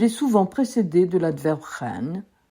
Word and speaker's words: 很: Le mot ren se prononce tantôt au troisième ton, tantôt au ton léger. Au ton léger, il a perdu tout sens intensif. On ne le traduit donc pas. Au troisième ton, il signifie très.